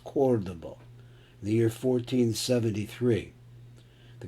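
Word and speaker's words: Córdoba: This is not pronounced Cordoba, it's pronounced Cordoba.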